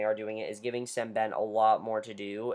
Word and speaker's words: Sembene: deceased family and S sben comes in I've been I've been pronouncing his name wrong it's s Ben I've been pronouncing his